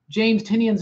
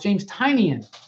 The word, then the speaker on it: Tynion: In that YouTube video, I have realized that I've been pronouncing James Tynion's name wrong. It's James Tynion. James Tynion. James Tynion the Fourth.